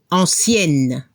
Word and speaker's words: ancienne: Como el masculino termina por EN, doblamos la última consonante y agregamos una E. Y la pronunciación se escucha la N al femenino. Ancienne. Actif.